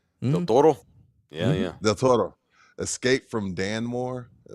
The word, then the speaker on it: Del Toro: Del Toro?